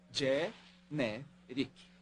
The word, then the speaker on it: Generic: É generic. Pronuncia-se Gé-né. Rick.